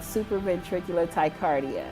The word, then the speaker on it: supraventricular tachycardia: I suffer from SVT attacks, and that's called supraventricular tachycardia. Did I pronounce that correct?